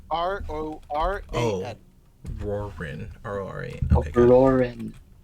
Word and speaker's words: Roran: Is it Warren? Roran.